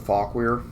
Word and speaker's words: Fauquier: I want to say Fauquier. Or I've heard it called Fauquier, but if I remember correctly, it is actually called Fauquier, but it definitely sounds wrong if you mispronounce it.